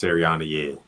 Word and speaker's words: Sirianni: Coach, how do you pronounce his last name? Nick Sirianni That's Sirianni.